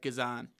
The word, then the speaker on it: Guzan: loved that that chant he also said how to say his name correctly uh yeah it's it's good on Guzan Kazan Kazan Brad Guzan says his name is Brad Kazan and Jonathan goes oh